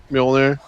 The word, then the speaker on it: Mjolnir: How do you pronounce it? Mjolnir.